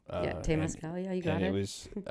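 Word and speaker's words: temazcal: We go to a what sweat lodge is called Tamascal. Tamascal.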